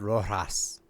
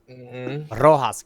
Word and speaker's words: Rojas: You need to say it right. It's Fred Rojas. Thank you very much. You gotta roll your R's.